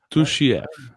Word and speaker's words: Tuhchiev: However you say his last name, Tuhchiev. Is that right? How do you say your last name specifically? It's like two, Chi, like Chicago, and then F. Tuhchiev.